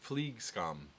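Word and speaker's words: flygskam: to feel about flying flag scam pronounced fleek scum thank you because I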